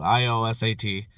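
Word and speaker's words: iOSAT: on Amazon look them up on the web it's spelled i-o-s-a-t i o sat tablets if you can find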